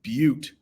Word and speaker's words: butte: and then he went alone to a high butte six that's pronounced butte top to fast and pray okay it's going